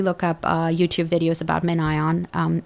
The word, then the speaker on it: MinION: up YouTube videos about MinION. It's by... How do you spell that? MENION? MinION is MIN. MIN. It's like Minion, but there's like a space between and ion.